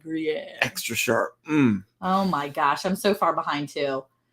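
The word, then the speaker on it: Gruyère: Green air, not green air. Gruyere. That's how you say it. Gruyere.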